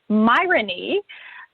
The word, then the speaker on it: myrony: fun new word of myrony, which obviously rhymes with irony, which are the crazy